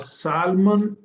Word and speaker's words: salmon: A salmon, a salmon is a fish. Salmon, and L is silent.